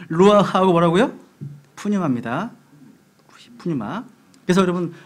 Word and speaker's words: Pneuma: 푸뉴마. 그래서 여러분 푸뉴마가 영어로 이제 Pneuma거든요. P가 발음이 안 됩니다.